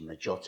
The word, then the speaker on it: Margiotta: They always called me, because my surname is Margiotta, or actually Margiotta in Italian, but everyone called me because they couldn't pronounce my surname.